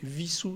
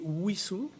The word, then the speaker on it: Wissous: seule chose c'est que normalement si on est fidèle à l'histoire de la commune on devrait pas prononcer vie sous serre avec le w l'allemande mais on devrait prononcer wissous avec le w à